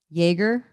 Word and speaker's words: Jaeger: leona you're my friend how do you say your name and she's like jaeger and i was like